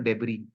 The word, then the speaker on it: debris: concept called as cellular debris okay I'll type in the chat box d r i s it is not called a deis it is debris s is silent Okay so concept cellular